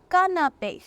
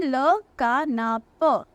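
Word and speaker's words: canapé: ठीक है, क्योंकि ई के ऊपर एक्सेंट है, accent aigu है, इसलिए उसकी अ साउंड नहीं है, ए साउंड है। अगर ये एक्सेंट नहीं होता तो इसकी प्रोनाउंसिएशन होती है ल का ना प, लेकिन क्योंकि यहाँ पर एक्सेंट है इसलिए ई की ए साउंड होगी, राइट।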